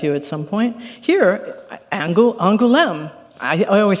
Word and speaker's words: Angoulême: Here, Angoulême.